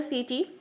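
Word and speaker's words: setae: व्हाट इज the mean of this pineal सीटी? सीटी भी बोलते हो, सीटा बोलते हो, वॉट ever you want to pronounce it.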